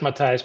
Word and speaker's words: Matthias: And I agree with what Matthias said. And did I get that right, Matthias? Yeah, it's Matthias, but call me Matthew.